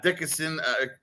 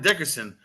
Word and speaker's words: Dickerson: too and then uh Dickenson Carl say it for me Corbin Corbin yeah I was getting his name wrong too on Sunday Corbin Dickerson this kid covers a